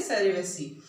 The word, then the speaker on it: cerevisiae: This is Saccharomyces is the genus, and cerevisiae, आप इसका correct spelling लिखना। देखो, CEREVISAE, ठीक है, सेरेविसी।